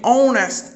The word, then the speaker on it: honest: no caso de hour, honest e helicopter. Eu tenho aqui palavras que começam com consoante, porém elas não têm a consoante pronunciada.